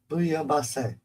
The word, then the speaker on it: bouillabaisse: So the L is silent. Bouillabaisse.